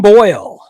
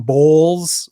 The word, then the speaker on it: Boyle: way during the broadcast i swear i heard his name pronounced wrong several times like he's so unknown it was tom boyle i think it was tim bowles once um so i feel